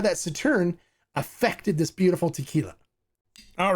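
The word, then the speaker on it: Sauternes: It's S-A-U-T-E-R-N-E-S, but it's pronounced Sauterne.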